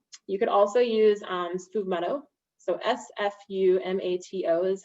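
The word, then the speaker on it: sfumato: the amaro montenegro you could also use um spoof motto so s-f-u-m-a-t-o is how you spell it it's a rhubarb amaro and it's delicious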